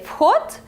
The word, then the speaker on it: вход: And when we say вход, the last sound is t, and the whole word is very similar to the adjective hot.